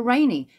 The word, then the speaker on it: Raney: that is basically because my name is rainey but obviously it's spelt r-a-n-e-y so i've called it